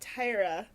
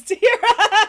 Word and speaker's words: Tahira: yeah it was Tahira cuz they kind of pronounced it like Tyra but then the doctor says Tahira wow I was like